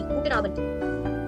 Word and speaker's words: Guten Abend: Yes, you're observing here that D is pronouncing as T. Guten Abend.